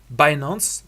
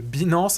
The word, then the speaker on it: Binance: plateforme numéro 1 mondiale, Binance, prononcé aussi Binance en français si tu préfères.